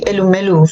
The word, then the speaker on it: Elumelu: And also the Tony how do you pronounce the name? I know Tony Emelo Foundation. Yes, those are my mentors, Tony Elumelu Foundation.